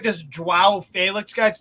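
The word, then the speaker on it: João: Just like this Joao Felix guy. No, it's Joao Felix. Joao. Yeah, that's what the announcer is. Joao. No, it's nasal. Joao.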